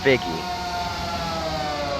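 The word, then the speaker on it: Figge: 9 back there as well excuse me Alex figgy found out that's the correct pronounce pronunciation so figgy is the last car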